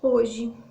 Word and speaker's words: hoje: coisa acontece com palavrinha hoje hoje nós temos quatro letras é isso mas na hora da nossa pronúncia hoje a gente vai ter apenas três sonhos porque o h se foi aí vai não é considerado como né porque não tem o som na hora da nossa